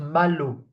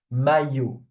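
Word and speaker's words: maillot: We say not malu. Okay? Please don't do this mistake. Not malu may. So most in most cases when we have an I before two L's it's pronounced U. Okay you sound may okay the L's are silent basically may. So when we have an I before two L's it's U sound mayu.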